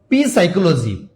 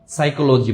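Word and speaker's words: psychology: তারপরে আপনারা অনেকে এটাকে বলেন পি সাইকোলজি মনে রাখবেন এস এর পূর্বে পি আর উচ্চারণ হয় না এটা মূলত হবে সাইকোলজিক্যাল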